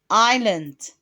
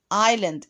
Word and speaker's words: island: the sea it was very pretty and what island island and the s remember the s in ireland is silent the third box in the desert there